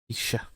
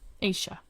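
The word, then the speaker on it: Ashia: It is Asia and Aaron. And my name is spelled funky. Why? My parents. Blame them. A s h i a is how you spell my name.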